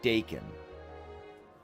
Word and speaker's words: Dacan: And I figured, all right, if Dhakan is pronounced like that with two K's, then if you drop a K, it should have a harder sound. So I switched it from Dhakan to Dacan.